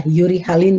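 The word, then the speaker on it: eurihalin: Itu bacanya uri ya, urihalin, uritermal.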